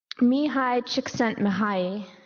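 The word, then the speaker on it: Csikszentmihalyi: place finished at the Destination Imagination Global finals Mii chent m yes that's actually how you pronounce his name a distinguished professor of psychology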